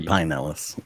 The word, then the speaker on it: Pinellas: Is it Pinellas County, or Pinellas sometimes County. Locals say Pinellas.